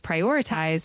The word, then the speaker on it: prioritize: The word priority is pronounced as priority with the emphasis on the second syllable, and prioritize is pronounced as prioritize, also with the emphasis And on priorities.